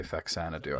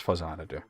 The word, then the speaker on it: Faxanadu: Which I know he mispronounces. He's going to say Faxanadu, I guarantee you. Yeah, he just said Faxanadu. It's It's Faxanadu.